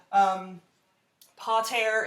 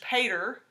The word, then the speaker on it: pater: This comes from a Latin word, pater in Latin, or you can pronounce it in English, pater.